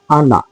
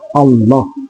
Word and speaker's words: Allah: yan sa Diyos Allah pangalan ala pero hindi yun ang pag-pronounce kasi ang pag-pronounce ng Allah ay malaking la double l yun eh makapal na la Allah yun ang pagkas pero